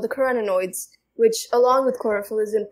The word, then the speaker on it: carotenoids: carotenoids okay carotenoids carotenoids kurodo no carotenoids carrots and no it's okay think of carrots and humanoid and then like combine them I spent like ten